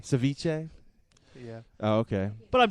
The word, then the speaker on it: ceviche: in Austin are churning out Delicacies such as setee fish and chips and Vietnamese Apple kebabs it's pronounced Ceviche Ceviche yeah oh okay but I'm still it it